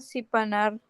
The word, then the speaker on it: sharpener: Do they Have a pencil sharpener. Sharpener. Sharpener. Sharp. Sharpener. Sharpener. Oke. Ininya seolah tidak ada ya. Jadi E-nya tidak disebutkan. Jadi bacanya gini. Sharpener. Sharpener. Yes, like this one.